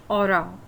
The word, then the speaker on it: hora: soon last for the aura for the time we never called us um because the age is pronounced as silent so Isla is in